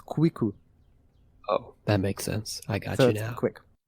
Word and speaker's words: Kwiku: Because in Japanese, it's the 9 is Ku, the 1 is I, and Ku. So if you pronounce it really quick, it's Kwiku.